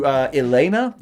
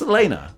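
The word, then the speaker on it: Yelena: We got introduced to Ilyena. I'm so bad with pronunciations. It's just Elena.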